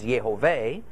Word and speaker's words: Jehovah: name as Yahav a and not the more accepted Yahweh but what I just explained gives you the reason why there is disagreement over exactly how to pronounce God's formal name that has spelled you'd hey Bob hey do we focus it like yay ho yah and yahoshua Joshua and thus say the Lord's name is Jehovah or do we vocalize